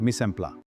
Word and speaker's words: mise en place: Remember the pronunciation. The techniques of mise en place may be broadly divided into two categories, subdivision and fractionalization, and combining and mixing.